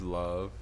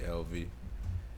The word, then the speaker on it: LV: love for people to stop calling me LV um I understand that love is spelled unconventionally but my name is Love and I'm here with